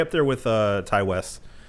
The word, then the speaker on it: Ti: Is it T or Ty? It's Ty. Ty West. Pretty sure it's Ty.